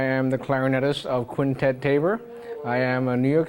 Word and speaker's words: Tabor: But it's Quintet Tabor, and it's from Tabor Court where we rehearse, and it's where I live.